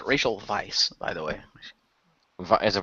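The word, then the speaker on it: Weisz: it's it's pronounced racial Vice by the way is it pronounced Vice okay it's yeah it's w as V I think she's like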